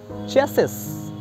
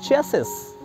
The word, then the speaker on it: chassis: People often wrongly pronounce it as chassis, C-H-A-S-S-I-S. It's wrongly pronounced as chassis.